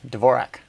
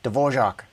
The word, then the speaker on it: Dvorak: your Barbie yeah eogo said Dvorak or dorak I'm going to I'm going to pronounce it Dvorak just because that's what most people do so yes I use